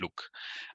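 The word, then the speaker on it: LIWC: So if we didn't say Luke, it's because linguistic inquiry and word count, the text analysis method, is pronounced Luke.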